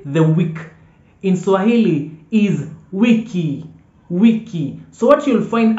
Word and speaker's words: wiki: week in Swahili is wiki wiki remember I told you in the alphabets that I is e e pronounced as e so anywhere you see a word written with I no it's e so wiki wiki and